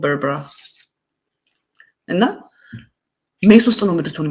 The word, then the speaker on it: Berbera: እንጂ ለኢትዮጵያ ልማት አይሆንም ባርበራ ምንድነው ያልኩት በርበራ አይደል የሚባለው ምን ባርበራ በርበራ አይደል የሚባለው that's what it says in English በርበራ ነው የሚለው did I say it wrong እኔ ስም ላይ I'm not good ብዙ ጊዜ የሰው ስም አሳስቼ ነው የምናገርና as far as I know it's called Berbera እና ሜስ ውስጥ ነው